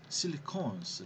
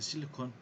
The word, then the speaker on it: silicone: Okay, and the spelling is, you see, it has E, silicon, SILICONE. Yeah, but the solid silicon spelling is different. There is no E, SILICON. Okay, but the pronunciation is the same.